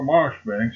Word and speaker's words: Marjoribank: His name and style being the Honorable Kirkcudbright Llanover Marjoribank Sellers, Viscount Berkeley of Cholmondeley Castle, Warwickshire. Pronounced Kirkcudbright Llanover Marshbank Sellers, Viscount Berkeley of Cholmondeley Castle, Warwickshire.